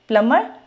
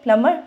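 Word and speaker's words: plumber: में आ गया तो एक्सेप्ट थ्री वर्ड्स जो हैं उनके अलावा हमने सब में एम और बी को प्रोनाउंस करना है और वो थ्री वर्ड्स कौन से हैं प्लमर क्लाइम बमर ठीक है पीसीबी आप इसको ऐसे ही याद रख लो प्लमर क्लाइंबर बमर तो अब हमारी क्लास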